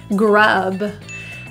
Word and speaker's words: grub: of that voice grub the vowel in this word is neutral closed jaw uh uh if you find your jaw open you might pronounce a different vowel so keep your jaw close grub nail it